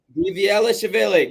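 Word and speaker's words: Dvalishvili: Diavalishvili. Diviashvili. There we go. Diviashvili.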